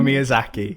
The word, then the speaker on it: Miyazaki: pronounce it Miyazaki? Hayao Miyazaki, yes.